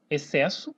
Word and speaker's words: excesso: Por exemplo, excesso, né? Ó, excesso. Note que eu nem pronuncio o X.